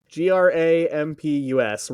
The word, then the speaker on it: Grampus: Grampus rhymes with Krampus.